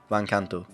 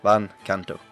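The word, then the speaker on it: Van Canto: is the name oh vancanto how do you spell that van v a n SP c a n t o one word van Kanto uh two words two words van Kanto so yeah van Kanto with take to the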